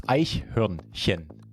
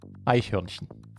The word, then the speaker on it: Eichhörnchen: Spoiler, it's Eichhörnchen, if you like pronounce it syllable by syllable. Eichhörnchen.